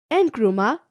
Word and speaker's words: Nkrumah: and Ghana in the early period of Nkrumah's, pronounced it as Nkrumah government, etc.